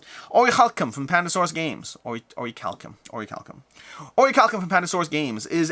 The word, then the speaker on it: Orichalcum: Is it Orichalcum? Orichalcum? I'm like very Jewish, so those hard C's, CH's are Chalcum. It's Orichalcum. Orichalcum from Pandasaurus Games. Orichalcum.